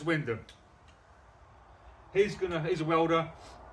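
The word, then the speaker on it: Wymondham: you who aren't who don't know how Windham is pronounced you might call it why mondum that is Windham he's gonna he's a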